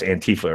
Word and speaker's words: antifa: I I just say antifa because that's how it spells that's a word it spells out but the anti-fascist as long as it rhymes with Queen Queen Latifa you're fine yeah it does but